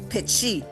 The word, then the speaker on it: petit: So in French, when we use the letter T, okay, so petit is French, but in Michif, we say petit. We pronounce with a CH.